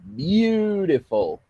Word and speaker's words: beautiful: Goes in the number 2 because beautiful. It starts in the first syllable.